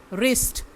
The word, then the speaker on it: wrist: WRIST, रिस्ट, इसमें जो W है उसका उच्चारण हम नहीं कर रहे हैं।